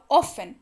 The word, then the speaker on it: often: अगला है हाउ ऑफन, यानी कि कितनी बार। सबसे पहली चीज OFTEN, इसको पढ़ते हैं ऑफन। आप स्पेलिंग तो याद कर लीजिए OFTEN, लेकिन बोलते वक्त टी को भूल जाइए, बस सिंपल सी बात है।